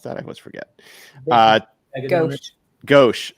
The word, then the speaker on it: gauche: Gauche. Thank you. That's the right way to pronounce it.